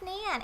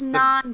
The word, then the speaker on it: naan: P bread it's not it's not it's Nan it's Nan it's yeah please people like like yeah sometimes it's hard to pronounce things like our names but if you try that's all we want you know that's like it's non bread if you can say